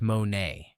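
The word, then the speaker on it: μονή: The word Jesus actually uses is mon, pronounced monay, and it does not describe a mansion, a palace, or anything remotely like a private estate.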